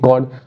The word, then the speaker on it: chord: कॉर्ड ऑफ the circle, CHORD, कॉर्ड। पढ़ते कॉर्ड है, होता चौड़ है, ठीक है, कोई दिक्कत नहीं है, प्रोनाउंसिएशन होती है। एच साइलेंट है यहाँ पे।